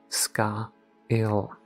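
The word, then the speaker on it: scáil: came to rest on the gelic word for shadow sky and hovered over the pronunciation SCA ill he attempted to pronounce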